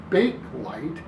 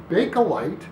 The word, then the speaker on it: Bakelite: about big collide now first of all don't say bake light even though it kind of looks like that's how it should be pronounced because maybe the plastic gets baked somehow no it's bakelite because it was named after its inventor leo bakeland who was a belgian